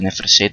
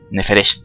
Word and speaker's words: Neferset: buscar la prisión de Neferset esta. ¿Cómo se dice? Neferest. No, Nef Neferset, lo dije bien.